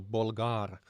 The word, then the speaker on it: Bolgar: So we have Bolgar saying that Bolgar is pronounced with a very strong G, so Bolgar, I would guess.